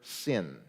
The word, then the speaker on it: Sin: It has nothing to do with the English word sin. Okay, that's why I pronounced it more the way you would in Hebrew of sin, because that's what it is.